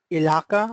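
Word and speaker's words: Ihaka: Then R initially written by Ross Ilaka, right? The pronunciation is like this.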